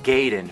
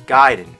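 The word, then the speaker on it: Gaiden: here we're talking ninja giden everyone always said Ninja gayen but I know for a fact it's giden you know where I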